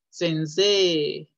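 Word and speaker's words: 先生: Cuando se junten una E y una I, esto se va a pronunciar también E, alargado. Gatsei, sensei.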